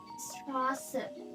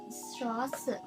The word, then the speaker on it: Straße: අපි example එකක් විදිහට ගත්තොත් මෙතන තියෙනවා මේක අපි කොහොමද pronunciation වෙන්නේ කියලා. මේක Fußball. Fußball. Yani football. මේක Straße. Straße.